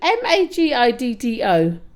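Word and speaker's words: Megiddo: Magiddo. Yeah, it's Agadoo, mate. How else are you going to say that? Well, rhymes with Agadoo.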